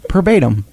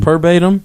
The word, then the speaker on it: verbatim: No, verbatim. It's a V.